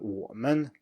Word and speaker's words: 我们: And finally, for the third tone, we have third tone plus neutral tone, and that is, as we saw before, an exception from the rule that the neutral tone is usually lower than the preceding syllable. And here it's higher instead.